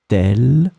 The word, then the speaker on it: telle: Telle belle perle. So let's see now the singular. Singular is tel and tel, same pronunciation, but then final S is not here.